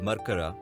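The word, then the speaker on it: Mercara: a clean town it's also called merkara by the old timers as that's how the british pronounced it it is the district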